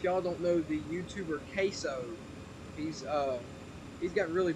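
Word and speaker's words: CaseOh: his name is is his name is queso like case and then o like you're understanding something so yeah be be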